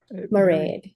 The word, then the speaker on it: Mairead: Mairead, yeah. It rhymes with parade.